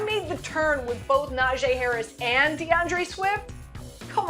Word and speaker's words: Najee: the turn with both Najee Harris and DeAndre Swift come on man come on it's not g Harry sure you lose points for that you got to get the pronunciation right he's not he doesn't